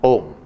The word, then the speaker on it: Om: in this word even the consonant, that is M, is pronounced in its original unexpanded, unelongated form just as a closing point.